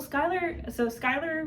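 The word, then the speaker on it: Schuyler: Well, Skylar Van Allen. Spelled like Schuler.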